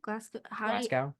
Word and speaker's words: Glasgow: Glasgow? Yeah, that's how you pronounce it.